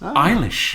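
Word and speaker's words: Eilis: the story of ish say say my name again ishish e i l i s iish iish iish is Irish you see and yes Irish eish you see uh leaves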